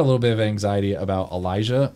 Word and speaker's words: Elijah: And Elijah. He was saying, oh, Elijah. And we were like, no, Elijah. He's like, Elijah. No, it's Elijah. Elijah. Elijah. And he was like, oh, Elijah. How do you spell it? And we said, E-L-I-J-A-H.